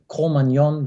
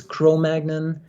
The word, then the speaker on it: Cro-Magnon: found in France in a valley called the commandion valley that's the actual the the actual correct pronunciation of that term but it just got butchered into the English version which is Cro-Magnon and for many reasons